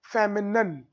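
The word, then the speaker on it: feminine: देखो यहां पर मैंने लिखा है कैसे प्रोनाउंसिएट करते हैं, मैस्क्यूलन, मैस्क्यूलन और फेमिनन, ऐसे प्रोनाउंसिएट करते हैं दोनों को।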